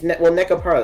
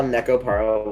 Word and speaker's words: Nekopara: It's I guess it's like the stress is wrong. It's like technically Nekopara, right?